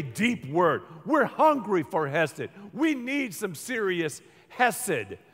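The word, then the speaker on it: חסד: This word is a word pronounced hesed. Say it with me. Hesed. I'll write it. When you pronounce Hebrew, it sounds gross, but it's almost like a dog who's a little bit sick.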